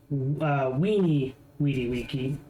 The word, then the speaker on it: vidi vici: But if you were educated and have high status, you would pronounce it as a W.